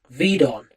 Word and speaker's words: Gvidon: They're called Vidon, and it's spelled Gvidon.